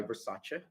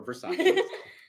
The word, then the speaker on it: Versace: uh Dylan Blue by Versace or Versace Versace whichever pronunciation you prefer again not sponsored with